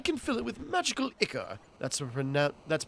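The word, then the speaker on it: ichor: I can fill it with magical icer. That's pronounced iicor.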